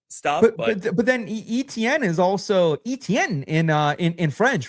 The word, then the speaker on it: Etienne: That's a very like French Creole kind of style.